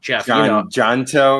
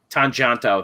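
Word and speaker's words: Tjahjanto: never say his name right jeff jonto or something yeah i always yeah tanjanto there you go uh oh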